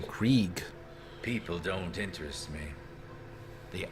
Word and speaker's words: Krieg: Oh, that's how you pronounce his last name. Krieg.